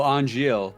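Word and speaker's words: Angeal: It's a n g e a l. Oh, aniel. That That's what it That's how it's pronounced.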